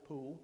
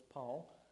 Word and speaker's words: Paul: They pronounce it Pool, but it's Paul.